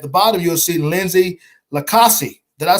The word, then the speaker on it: LiCausi: bottom, you'll see Lindsay LiCausi. That I said, Lindsay, we're very good friends and sisters. Always jack it up. I know I said it wrong. No, it's okay. LiCausi. No, You're close. LiCausi.